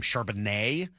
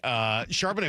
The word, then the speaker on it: Charbonnet: Well, whoever it was that was calling that game kept calling him Charbonnet, which was driving me nuts watching the replay of it last night. But whatever, it just you got the emphasis on the wrong syllable.